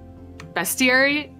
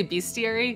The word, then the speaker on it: bestiary: wrong my entire life bestiary yeah yeah most people say beastiary because it has beasts but it there's no a and also yes that's